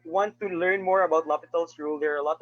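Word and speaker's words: L'Hôpital: is going off and lopital's rule it's spelled as l hospital's rule so that's the the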